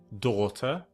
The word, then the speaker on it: daughter: Okay guys, so the next one is the spelling a U G H which is pronounced or like in the word daughter plus court, slaughter and taught.